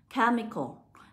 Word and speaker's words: chemical: Bởi vì âm CH lúc này chúng ta sẽ được đọc là âm K.